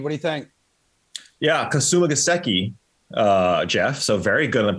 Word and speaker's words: Kasumigaseki: Kasumigaseki. Geoff, so very good on the pronunciation.